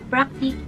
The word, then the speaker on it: Practk: me a package if you don't know guys practice is a sister company of Sigma Beauty let's